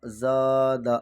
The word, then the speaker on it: زادہ: زا، دال زبر دا، زادہ۔ زبر کو تھوڑا بھی نہ کھینچے، دال پر جو زبر ہے۔ قاتل، قاف الف زبر